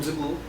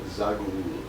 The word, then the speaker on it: Zaghloul: Adham Zagul, Yes. and it's spelled the way it sounds. Pretty much. Yeah. So Exactly. ADHEM Yes. and then ZAGOOL. ZAGHLOUL. So Zag- that's Zagul. Yeah, you're kind of close though.